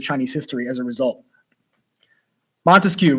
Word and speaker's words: Montesquieu: Montesquieu, right? 3-syllable last name.